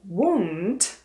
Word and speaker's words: won't: A um, čte se nebo vyslovuje se trošku jinak, tak jakoby kulatěj. Won't, když to přeženu.